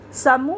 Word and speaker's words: समूह: चल रहा होगा कि समूह में हमने माँ पर जोर दिया।